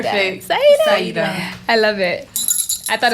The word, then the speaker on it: Saidah: And I love how she pronounces her name, Saidah. I did it right? You said it Saidah. perfect. Saidah. I love it. I thought it was Saidah at first until I heard your song.